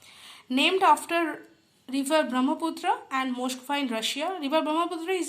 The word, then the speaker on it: Moskva: The missile has been jointly developed with Russia, named after river Brahmaputra and Moskva in Russia.